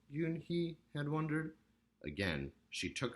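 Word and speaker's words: Unhei: and H II I it's pronounced yoon-hee oh it's you hey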